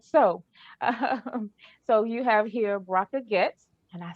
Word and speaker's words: Bracha Goetz: the interview started so so you have here brocco gets and i said it right yay me um